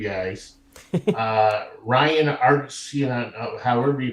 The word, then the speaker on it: Arcidiacono: Ryan Arcidiacono, however you pronounce his last name. Arcidiacono, thank you.